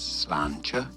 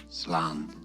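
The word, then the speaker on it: sláinte: It is said as slancher slanter.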